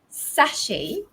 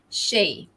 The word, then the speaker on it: sachet: would say like this in british english it's sachet okay sachet so not sachet i used to say satchet but it's actually sachet so sa you pronounce sa um the stress is there on the first syllable and in american english you guessed it correctly it's shay the the stress falls on the shay so it's a sachet